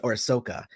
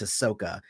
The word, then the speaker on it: Ahsoka: republic and asuka so that was orsoka i'm trying to say it like it's japanese but it's it's star wars so it's ahsoka sorry about that um